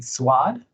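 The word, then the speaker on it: Suad: I'm gonna have you pronounce for me. S-U-A-D, Swad.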